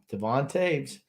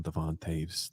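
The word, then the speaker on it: Devon Toews: Does his name rhyme with Sanan Naves? Yep, Devon Taves.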